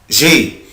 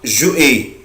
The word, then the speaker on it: j'ai: بس كده اسمها j'ai. في ناس بتنطقها جو اي، طبعا غلط جدا، مفيش حاجة اسمها جو اي.